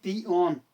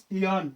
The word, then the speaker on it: peon: Guys, its correct pronunciation is peon, not pn. Most of students pronounce this word pn. No, it's peon.